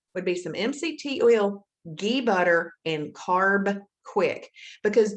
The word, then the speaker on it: ghee: butter now ghee butter spelled g-h-e-e and pronounced ghee is butter it's just